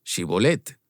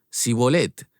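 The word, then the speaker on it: Shibboleth: Si respondían que no, les pedían que dijeran shibolet. Y si el fugitivo decía sibolet, porque no podían pronunciar esa palabra correctamente, le echaban mano y lo degaban junto a los vados del Jordán.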